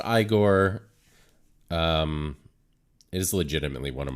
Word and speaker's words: Igor: pronounced Igor.